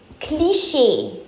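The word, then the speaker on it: cliché: that room so notu it's deja Deja next cliche so not cl cl no cliche cliche her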